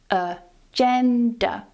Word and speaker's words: agenda: The stress is on the second syllable here, "uh" and "duh" at the end are both weak, and here they use the schwa - "uh-gen-duh", "agenda".